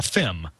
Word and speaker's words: FIM: that's a lot syllable so we Engineers say a fim right and and that's